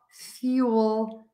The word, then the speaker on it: fuel: are you saying fuel be sure to hold that l a little bit longer make that sound longer and stronger and that's really going to help you so again the words are